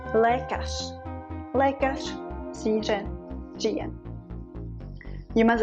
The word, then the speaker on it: lékař: Let's look at R in the end of the word, like lékař, a doctor.